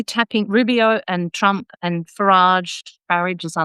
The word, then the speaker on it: Farage: Rubio and Trump and Farage Barage as I like to call him. It's going to be a a patriotic Englishman. You should pronounce it. You shouldn't pronounce it the French way.